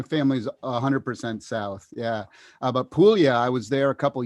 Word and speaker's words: Puglia: Puglia. Yep, I can Yeah. never pronounce the stuff right, but they settled.